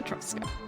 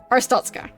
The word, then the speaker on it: Arstotzka: Glory to Etrusca. I already forgot how to say it. Glory to the people who imprisoned me. Yay! Okay. Arstotzka.